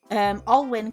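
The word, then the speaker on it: Alwyn: And I was like, it's Win because it's spelt with a Y. So all Win can actually be spelt two ways and pronounced two different ways. So with the Y, it's all Win, because the Y is pronounced as an I, and you've got the E would be a hard E, so all.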